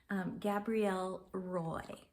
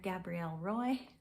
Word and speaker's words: Gabrielle Roy: it so that is I'm gonna pronounce it the English way even though she's French Gabrielle Roy and so excuse me